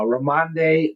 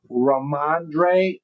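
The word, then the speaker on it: Rhamondre: Uh uh Ramande Ram Stevenson. Did I say it right? Let's see. Ramandre Ramandre Stevenson.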